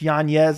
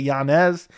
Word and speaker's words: Yanez: but I saw an interview that's how you pronounce his name apparently it's Yanez instead of Yanez and for Adrian Yanez I mean he is